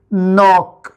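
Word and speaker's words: knock: तो हम दो बार क का नहीं बोलेंगे बल्कि इसको एक ही साउंड बना देंगे। नॉक नोक [गला साफ़ करने की आवाज़] नेक्स्ट चलते हैं।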